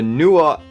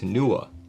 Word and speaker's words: Nooir: the newa and one it is actually pronounced NOA I just watched their promo materials today that they posted on YouTube and at least the voice over pronounced it as NOA but this is a